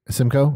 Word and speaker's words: Simcoe: The Simcoe, it's pronounced Simcoe-ness? Simcoe. Or Simcoe O-U-S? Yeah, just Simcoe. Simcoe?